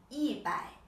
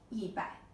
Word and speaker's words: 一百: I pronounce this 一百, this 一千, and this 一万. So here, actually, the pronunciation has changed, right? The tone has changed. This I pronounce 一百.